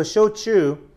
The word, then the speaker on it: shochu: So shochu is the Japanese pronunciation.